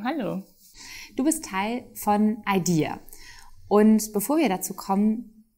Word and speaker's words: AiDiA: IDEA wird ausgesprochen das englische Idea, also die Idee.